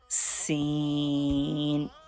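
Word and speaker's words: سين: Scene. Please read scene with whistle sound like this. S scene. Please read after me. Scene. Scene. Scene. Scene is thin letter read with thin sound and whistle sound.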